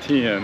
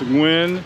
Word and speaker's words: Nguyễn: when or whatever Dynasty Tien no it's not Tien it's wind Dynasty that was around for